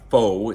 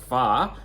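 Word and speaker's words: phở: dish uh it's pronounced PHA even though it's spelled p-h-o you it's not it's not pronounced faux it's pronounced far I didn't know that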